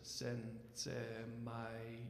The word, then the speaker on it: Sensemayá: look at your program, on the word sensamaya, there's an accent on the last A. So that represents kind of the poem, the part of the poem that says sen-se-ma-ya, sen-se-ma-ya.